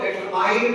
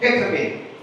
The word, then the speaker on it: determine: ये गलती हुआ करती वे इस शब्द को डिटरमाइन बोला करते डिटरमाइंड एक गलत प्रोनंसिएशन है the word should be pronounce cess मेरे साथ बोलिए डेटरमिन डेटरमिन एंड दिस वेरी थिंग